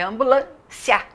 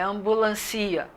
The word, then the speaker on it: ambulância: E aí, de exemplo das polissílabas, eu coloquei ambulância, é ambulância, não é ambulancia, é ambulância.